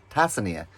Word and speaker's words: Tanzania: drive 20 minutes into Tanzania. Tanzania. There's no N in it, the way they pronounce it.